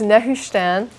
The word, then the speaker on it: Nehushtan: So we'll just hit this one that I mentioned, I think, last week, and that's Nehushtan. I'll try to pronounce that. Is that near Pakistan? Yeah, Pakistan. No, it's Nehushtan.